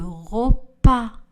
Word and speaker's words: repas: Le S à la fin du mot français n'est pas prononcé. J'apprends le français. J'apprends le français. Je sers le repas.